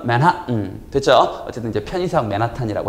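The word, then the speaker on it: Manhattan: 우리끼리 발음은 맨하탄, 영어식 발음은 맨하튼.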